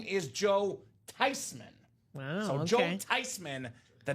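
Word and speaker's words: Theismann: of course it's tysman it's a German name how are people butchering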